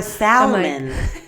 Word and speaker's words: salmon: Or salmon. You don't pronounce the L.